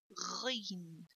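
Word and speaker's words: غين: Okay, now the next letter is Ghayn. Ghayn. This letter actually mainly pronounced from the top of your mouth. Okay, so say Ghayn, don't say Ghayn.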